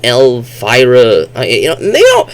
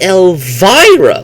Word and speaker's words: Elvira: But her name is Elvira, like Elmira, Elvira.